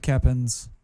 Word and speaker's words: Keoppen: The O is silent. It's Dutch as fuck.